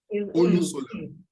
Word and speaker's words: Olusola: I didn't want to use Yoruba to pronounce it. Olusola.